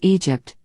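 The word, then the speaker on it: EDGP: a short-lived rap duo edged pronounced egypt with her friend jennifer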